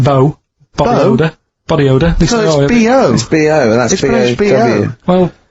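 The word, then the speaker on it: B.O.: and it smells like bow bottle holder body odor well yeah but you've got a plate it's not pronounced bow and it's not spout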